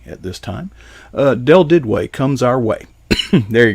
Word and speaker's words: Duduit: french right it is and and french is pronounced dude we and the southern oregon go it's a it's uh it's pronounced did way but in the french it's judy so there